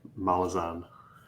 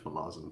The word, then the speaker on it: Malazan: it whatever I just I just pronounce myazin because I've just used to it now so that's that's